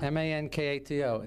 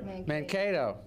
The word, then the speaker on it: Mankato: How do you pronounce that? I have no idea. M-A-N-K-A-T-O. Does anybody know? Mankato.